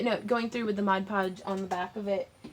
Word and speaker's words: Mod Podge: there it is my Mudge PGE it's Mod Podge but I was saying it wrong and so many people gave me such flak about it that I was like so I wrote it in it's Modge Podge um